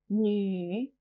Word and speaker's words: 女: 女, female. 女, 女. This character can be a bit difficult to pronounce. It sounds a bit like a crossover between new and ni.